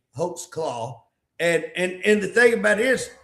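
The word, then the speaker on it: Holtzclaw: Hulk claw. I'm I'm pronouncing that right. It's Yes. H O L T Z claw. C L A W. Hoax claw.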